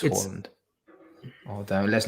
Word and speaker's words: Haaland: It's not Haaland, it's Haaland. Even I know how to pronounce it. It's Haaland.